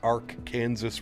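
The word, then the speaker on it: Arkansas: In Kansas is pronounced Ark Kansas River.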